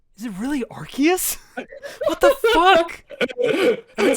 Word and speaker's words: Arceus: Well, like even I don't know, but even with like Ace, it's not a hard C because you don't say a K. So it's like Arceus.